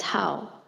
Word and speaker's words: 好: The character is pronounced as how. How means like food, but stay away from them. 说是好的饮食啊，你应该远一点，不远一点呢，那个吃的肚里头没有地方了，就不会动弹了。 The character can also be pronounced as how, and the dirt tone meaning good.